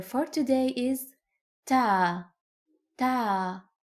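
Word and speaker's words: تاء: Ta is pronounced like the T in English. Ta, ta, ta, ta, ta.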